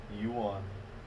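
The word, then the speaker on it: yuan: is racist not w n but it's one youan yeah one I say one they pronounce it one I don't think they pronounce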